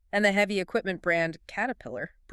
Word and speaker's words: Caterpillar: And the heavy equipment brand Caterpillar. Perfect example combining flap T and schwah. The first T is a flap T cater.